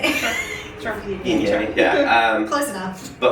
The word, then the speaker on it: Viognier: It's another one I have a hard time pronouncing. Yeah. Viognier. Is that how you say it? Sure. Viognier, yeah.